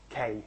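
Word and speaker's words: 京: And it's pronounced as K, and that's actually the power of the computer.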